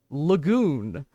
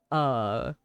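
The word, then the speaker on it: L'goon: This guy is called Lagoon, and it is spelled L apostrophe goon.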